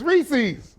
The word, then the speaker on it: Reese's: Hey, people tend to pronounce Reese's one of the two ways: Reese's or Reese's. It's Reese's. The popular chocolate brand is in fact pronounced Reese's.